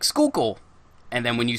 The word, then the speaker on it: Schuylkill: yeah so that's why we have places like Schuylkill and then when you spell it it looks like it's dance coolly kill